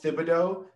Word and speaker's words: Thibodeau: fan i will say thibodeaux was the best it's not the h is silent that's not how i